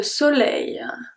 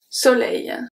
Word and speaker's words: soleil: So, the S at the beginning is pronounced as a S because it's the first letter of the word, so it's always going to be pronounced as a S. The O is a short O, close O, and then the L is pronounced regularly. N, E, I, L make the sound E, I. E, I. Soleil, E, I. Okay, so that's the E plus the rolling E.